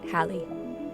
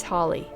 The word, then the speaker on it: Halley: However, most with the same last name in England today pronounce it to rhyme with valley, so this is a good starting place.